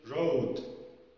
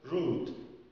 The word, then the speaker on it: road: كلمة road، this is my road. أوكي. يعني هذا طريقي. road لو نطقناها غلط هنقول rude، rude، rude يعني وقح.